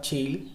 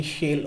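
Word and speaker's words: Chail: world so this is your shale or chill basically pronunciation will be shale only and this shale is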